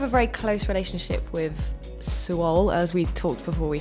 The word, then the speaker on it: Suol: And you have a very close relationship with Suol, as we talked before we started recording. Some people pronounce it Soul.